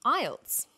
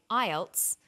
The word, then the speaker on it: IELTS: with a an acronym we don't pronounce the individual letters we pronounce it as a word so we say IELTS not i e l